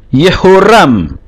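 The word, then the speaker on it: יורם: khets dan mem final yoram jadi membacanya yo vokal panjang atau yang tetap mempertahankan Yod h-nya menjadi yoram ya seperti di sini yehoram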